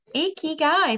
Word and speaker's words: ikigai: gave her a crash course in how to pronounce it so yeah icky guy perfect well done thank you i had to